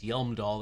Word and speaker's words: Hjelmdall: They wanted it to be pronounced Yelmdall. They should have spelled it with a Y. Why? It says Helmdall, or sorry, excuse me, Hjelmdall. So I'm gonna call it Hjelmdall.